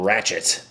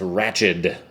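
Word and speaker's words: Ratched: the Cuckoo's Nest right her name isn't ratchet it's ratchet or it's r-a-t-c-h-e-d I think is how it's spelled oh man whispers in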